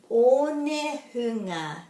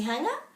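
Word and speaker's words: Onehunga: So, o, a, e, I, o, u, o, ne, hunga, not only hanga, o, ne, hunga, hunga.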